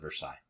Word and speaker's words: Versailles: said that but this is the Palace of Versailles okay so that is it for uh the